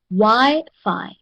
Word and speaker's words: Wi-Fi: Wi-Fi has 2 syllables. Okay. Each word is divided according to the number of vowels. Okay, according to the number of vowels. So if there are 2 vowels, it means that this one has 2 syllables. Okay, so the first syllable is Y and the next one is Fi.